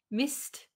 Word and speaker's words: missed: i missed the boat so here missed mist the this kind of becomes one sound i missed the i missed the so this kind of d a little bit disappears i missed the